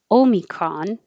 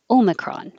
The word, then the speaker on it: omicron: or omicron and omicron i think this is a very american version of it because of changing the i to an uh and instead of an o making it an arm omicron but you also will hear the more correct pronunciation of the greek letter o me or ome omicron this looks very like